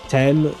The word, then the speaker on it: t'aime: And for the pronunciation, like I said, je, and then tem. It would be kind of like saying the letter M, but adding a T before that. Tem. You know what I mean? Or kind of like the London's river, the Thames. But you drop the Z sound at the end, you just say Tem.